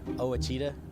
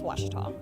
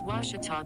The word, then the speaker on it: Ouachita: ouachita sports digital network i've heard people say oh a cheetah oh wichita oh a cheetah is it pronounced searching for washi at a baptist university back in texas everybody pronounces it wichita but really it's ouachita washington washington how would you pronounce it